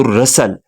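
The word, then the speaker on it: rustle: मतलब होता है सरसराहट तो यहां पे टी साइलेंट है तो रसल तो सरसरा सुनी ऑफ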